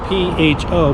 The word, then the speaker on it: pho: It's spelled P-H-O, but it's pronounced pho.